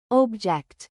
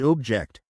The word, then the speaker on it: object: But as a verb, meaning to disagree, we stress the second syllable, object. So, that is a strange object, versus, I object to that statement.